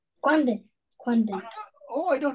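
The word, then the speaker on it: Quảng Bình: Quang Binh. Quang Binh. Oh, I don't know. Can you spell it?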